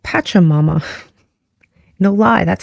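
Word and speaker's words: Pachamama: here on the table and this is called patcha Mama no lie that's how it's pronounced um this translates into Mother Earth she's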